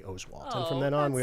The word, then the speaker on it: Oswalt: OS W T and he was Oswalt on every Sports show and every highlight uh his mom called the ESPN Newsroom and told the assignment desk that everybody's pronouncing it wrong and it's actually Oswalt and from then on